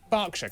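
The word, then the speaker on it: Berkshire: silent Norwich Beric suuk e r is pronounced R barkshire clarenell hartfordshire but before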